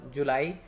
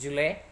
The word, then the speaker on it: July: The word July is sometimes pronounced with a stress on the first syllable instead of the normal stress on second syllable. July, it is July.